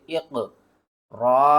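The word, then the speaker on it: اقرأ: चले इसके हिज्जे करते हैं। हमज़ा क़ाफ़ ज़ेर इक़, रा हमज़ा ज़बर र, इक़रा।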